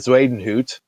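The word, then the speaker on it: Bezuidenhout: decent like that's a good combo here but zweden hoot is how you say the the other name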